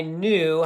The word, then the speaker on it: knew: it to no right it's got that silent K that's why these are